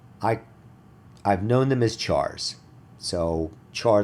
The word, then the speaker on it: char: single quotes and this I've heard a lot of people pronounce it different ways because they're called characters I've heard people call them care or or car I I've known them as chars so char letter is